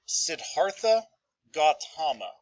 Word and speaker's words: Siddhartha Gautama: going to be founded by a man named siddhartha gautama that's how you pronounce that but he's going to grow up